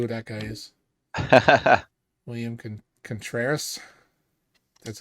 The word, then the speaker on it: Contreras: William Contreras. That's how you pronounce his name.